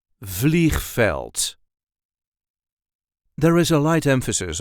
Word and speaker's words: veld: with veld this is the way we say velt velt there is a light emphasis on the first syllable velt VV fleel so the other word